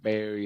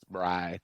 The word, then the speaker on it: Bri: So Bri rhymes with hope guy. It's not Barry, it's not Bree, it's Bri.